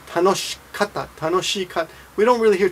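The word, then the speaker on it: 楽しかった: Tanoshikata, tanoshikata.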